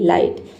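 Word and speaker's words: light: एल आई टी लाइट। यहां पे जी और एच दोनों साइलेंट है।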